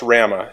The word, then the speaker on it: WRAMA: WRAMA, pronounced RAMA, is a not-for-profit association